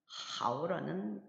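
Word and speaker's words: 好: 방금 보신 하오는 성모의 성모와 운모가 결합을 해서 하오라는 발음이 이루어졌고 거기에 삼성 성조부호가 표기되어 있어서 하오라는 발음을 만들었습니다.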